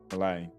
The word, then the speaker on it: Milei: So that's how we say his name, Milei.